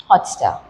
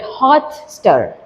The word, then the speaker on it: Hotstar: Hotstar How do we pronounce it? We do not call it hot star. We call it hot star. Right? So, the uh stress is being put on So, first is unstressed.